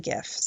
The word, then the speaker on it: GIF: gif and that's that in 2014 President Obama went with a hard G and it turns out he was right so I would say